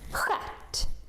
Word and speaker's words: stjärt: Next combination that also makes this sound is this one, STJ, STJ. Like in these words. If it's the same sound, why do you put a T? Stjärt.